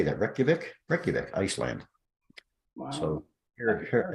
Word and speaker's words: Reykjavik: Reykjavik, Iceland.